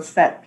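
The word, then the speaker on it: PhET: I'll type that in the chat so people can see how that's spelled. So Fet, P-H-E-T.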